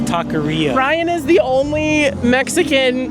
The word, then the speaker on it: taqueria: Well, I can't roll my R's, but it's taqueria.